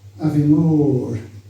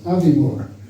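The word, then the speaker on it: Aviemore: So if someone for example, it's Avimore, not Avimore, because the stress is on the second word.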